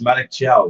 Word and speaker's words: Malik Thiaw: Okay, that is Malik Thiaw, which we're pronouncing like pros to. Irishmen pronouncing names correctly. Who'd have thunk it? That's how you say that.